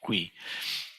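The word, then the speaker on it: 喜: The opposite of mudita, the opposite of which in Sino-Korean is pronounced hui, is envy, which is an extremely common human experience.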